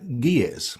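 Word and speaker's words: Ge'ez: and you also know gears is that how you pronounce it it is yes uh it is that's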